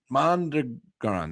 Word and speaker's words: Mondragon: Mondragon. That's right. I always forget how to pronounce it.